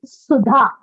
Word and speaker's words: Sudha: actually one is uh my name for example is sudha which goes like a hissing sound yeah is another uh